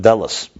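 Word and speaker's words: דלת: So now he says, Vihine dalet u'meloshin delas. Dalet is also, when you say dalet, you write it out, dalet lamed tov, which can be pronounced delas, door.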